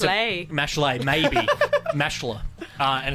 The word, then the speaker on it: Mashle: I don't know how to pronounce the name properly, but I call it Mashal. It's pronounced spelled Mashle. Yeah, right. Ma- And it's Mashle.